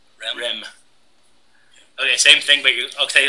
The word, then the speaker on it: REM: you're listening to DJ REM REM RM but pronounced REM REM okay same thing but okay like so this